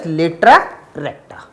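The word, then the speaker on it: latera recta: And latus rectum in the plural form it is pronounced as latra recta.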